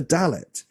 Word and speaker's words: Dalet: The same with the Dalet. We can have a Dalet with a dot or without a dot, and for me, I always pronounce it like a D sound.